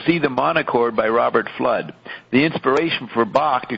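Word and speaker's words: Fludd: may not have heard her pronunciation flood f-l-u-d-d so roxy says and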